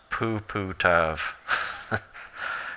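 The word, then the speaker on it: puputov: That is pronounced Puputav.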